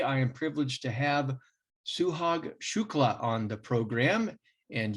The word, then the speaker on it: Suhag Shukla: And today I am privileged to have Suhag Shukla on the program. And yes, that pronunciation is correct.